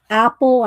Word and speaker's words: Aeppol: If y'all are just coming in, we're coloring out of Aeppol, I think is how we looked it up and said how you pronounce it.